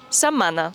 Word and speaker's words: setmana: Es el caso de la palabra "setmana" en que la "t" no se pronuncia y la "m" suena doble: .